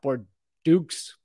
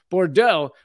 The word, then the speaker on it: Bordeaux: the southwestern city of Bordeaux protesters see I pronounced that one correctly it's not poor Dukes Bordeaux protesters Set Fire to